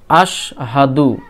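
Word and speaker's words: أشهد: আলিফ scene জাবার আশ এখানে ছোট সিন আছে জিহব্বার মধ্যখান উপরে তালু বরাবর লাগিয়ে এই সিন উচ্চারণ করবেন আলিফ সিন জাবার আশ হা জাবার হা দাল পেশ দু আশহাদু আশহাদু আশহাদু আলিফ লাম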